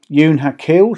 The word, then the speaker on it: Ewn Ha Cul: I've taken advice on that, as well as the pronunciation. So if you disagree, then let me know. Ewn Ha Cul, she's a 57-foot reverse-style cruiser-stern narrowboat built in 2009 by Cheshire Narrowboat.